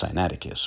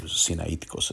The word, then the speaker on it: Sinaiticus: rather this is from codex cyanaticus or sinaiticus some say as the greek pronunciation and we found the